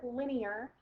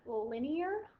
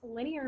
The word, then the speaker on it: linear: I pronouncing the word linear not linear it's really tempting to to say the word line because after all the first four letters of this word do spell line um and that's a